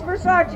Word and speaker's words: Versace: minutes but she got me there judge vince versace judicial district judge versace has the skills temperament